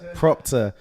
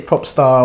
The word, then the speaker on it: Proptar: how I may use Proctor how you spell it Matt so doctor yeah I get a lot of people say pop star or pop star or is Proctor so Proctor's p ro p ta are gonna get